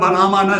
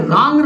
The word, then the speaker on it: रां: ये होता है कि इसका उच्चारण राम रामाय नमः नहीं है, इसका उच्चारण है रांग रामाय नमः।